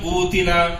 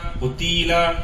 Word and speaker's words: قتیلا: کئی بچے قوتیلا قتیلا قتیلا اس طرح پڑھتے ہیں، ان کو ہم کو چاہیے کہ اچھی طرح غور کر کے ان کو سمجھانے کی کوشش کریں.